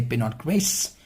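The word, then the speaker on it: Pinot Gris: and it is actually in France we say Pinot Grace or in Italy we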